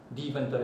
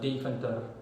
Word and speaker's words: Deventer: Deventer in English. It's a Dutch city, and it's in the municipality Overijssel. That's how it's pronounced. In English it would be Overijssel. In any case, Deventer, or in Dutch Deventer.